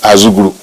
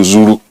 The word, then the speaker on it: Azuguru: Actually, the name of our place is Azuguru, a den of lions. But the Hausa people and the other cultures who could not pronounce it shortened it to Zuru.